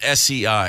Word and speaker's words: sei: It's spelled S-E-I. It's pronounced sei.